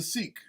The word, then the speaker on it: Sikh: But it's spelt like Sikh because he's a Sikh. That's the religion. So he's Real Sick, Real Sikh. I'll say both.